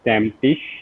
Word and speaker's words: Stammtisch: event okay so our event is called sap stem tish that's how you pronounce it many people like they get confused